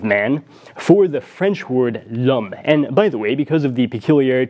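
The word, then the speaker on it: homme: the concept of man for the French word Lum and by the way because of the peculiarities of French pronunciation I will use the definite article before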